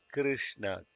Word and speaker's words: Krishna: about Sri Vidya, but most of the people don't know how to pronounce Krishna. They say Krishna or they say Krishna, but it's actually Krishna. Kr, kr. R should be like Kr, Krishna.